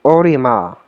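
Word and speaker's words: オリマー: is Captain alar but in Japanese his name would be pronounced orima which is the reverse of Mario so it's orama Mario it's actually a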